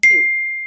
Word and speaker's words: queue: Oke, jadi kata ini adalah dibacanya Q.